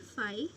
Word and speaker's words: phi: ये फाई है, इसे प्रोनाउंस करते हैं PHI, फाई.